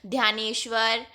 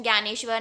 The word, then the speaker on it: ज्ञानेश्वर: The most important among them were ध्यानेश्वर, यानी मतलब इसका pronunciation ज्ञानेश्वर, नामदेवा, Eknath, Tukaram as well.